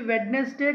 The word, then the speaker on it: Wednesday: ఇది Wednesday కాదండి, Wednesday. D is a silent letter here. We need not pronounce the letter D here. So this word must be pronounced like Wednesday. It's not Wednesday.